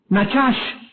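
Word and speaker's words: נחש: hebreo la palabra Agüero es la palabra hebrea nachash n a c h a s h nachash y significa pronunciar encantamientos mágicos o hechicerías también aquí la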